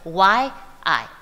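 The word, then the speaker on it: 夷: The pronunciation, today in Pinyin you would have spelled it Y-I, Yi. Okay, this was the 19th century pronunciation of this character.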